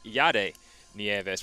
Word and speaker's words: Yedi Nieves: And I must apologize to any Lehman College fans listening, as we've been corrected on our pronunciation of their starting pitcher. It is Yedi Nieves. We've been pronouncing that incorrectly the last day, so I'm sorry about that.